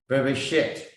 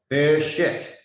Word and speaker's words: Bereshit: It pronounced Bereshit. Okay, Bereshit.